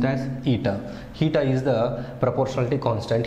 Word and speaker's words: eta: It is pronounced as eta.